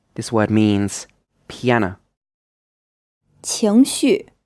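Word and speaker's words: 情绪: 情绪 This is pronounced with a second tone, then a fourth tone, and this means feelings or emotions.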